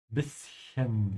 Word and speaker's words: bisschen: not let your upper and lower teeth touch. You say it authentically and impress your German friends. Bischen, ja, bischen.